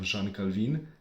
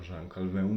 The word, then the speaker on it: Jean Calvin: during the times of Jean Calvin, or Jean Calvin, depend how we pronounce it.